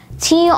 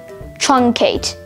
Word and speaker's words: truncate: Today's word of the day is truncate, spelled T-R-U-N-C-A-T-E, truncate. Truncate has one alternate pronunciation, truncate.